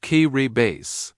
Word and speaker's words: Kiribati: Its name is pronounced kay base.